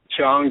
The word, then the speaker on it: Jong: it's just Chong, just like C-H-U-N-G or C-H-O-N-G.